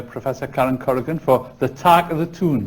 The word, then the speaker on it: Talk of the Toon: Karen Corrigan for the tack of the tune that's how it should be pronounced I'm kind of sorry